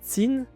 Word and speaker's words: Qin: Parce que Qin se prononce Tsin, et c'est ce qui a donné le nom à la Chine.